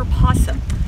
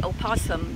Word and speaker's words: opossum: This is our opossum, and we spell it with an O. I tell people you only say opossum during St. Patrick's Day. That's when we're all Irish.